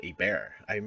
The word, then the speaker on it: Hebert: a bear is a bear awesome Louisiana French thing our our intro guy